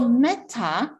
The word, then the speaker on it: metta: it's called the metavis m-e-t-t-a and that's a long a so metta universe versus